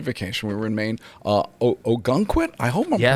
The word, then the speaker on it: Ogunquit: Ogunquit? I hope I'm Yes. pronouncing, Ogunquit.